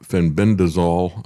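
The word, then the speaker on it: fenbendazole: Uh Mel Gibson talked about Fenbendazol I think is the way you pronounce that but also Ivormeckton and um Handy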